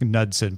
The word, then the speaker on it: Knudsen: I think it's just Knudsen, but it's spelled with a K.